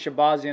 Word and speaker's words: Shahbazyan: yep or shahbazian shabazzi i think it's shibazian is the proper way to say it shibazi and shibazian tomato